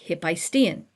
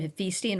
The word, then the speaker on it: Hephaestion: AE is usually an AI, like Hephaestion. Okay. In the Latin, he's Hephaestion. Okay. The modern pronunciation, Hephaestion. Why do I say it weird, Hephaestion? Because that's where the accent was.